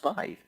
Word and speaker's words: Vive: Oh, have I been calling it the It's Viva? being built by HTC. I think I've been Yeah, calling you it the Viva. people calling it wrong. Vive. No, I haven't heard of it. Clearly pronounced Vive. V-I-V-E.